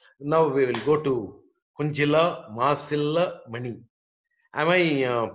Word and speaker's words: Kunjila: Anyway, now we will go to Kunjila Masilla Mani. Am I pronouncing your name properly? Yeah, the J is silent, but it's okay. Okay. How do you pronounce your name? Tell me once again. Kunjila.